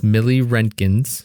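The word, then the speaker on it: milliroentgens: It's millirentgens.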